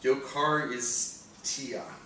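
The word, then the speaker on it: εὐχαριστία: here is Thanksgiving grief it's pronounced yo car is ti it actually means grateful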